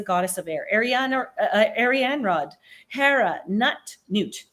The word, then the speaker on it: Nut: Arianrod, Hera, Newt. It's spelled nut, but it's Newt.